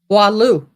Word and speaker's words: Boileau: Boy sounds like bois, Lou, Boileau is how they're saying it's supposed to be pronounced when I Googled it.